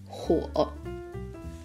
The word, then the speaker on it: 火: Fire on itself is pronounced as 火.